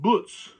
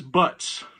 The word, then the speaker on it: Butz: And to explain that, my buddy Nord's last name is a German name, well, slight German name, but it's pronounced Butz. But because America being America the way it is whenever an immigrant comes in, their last name is now wrote down as Butts.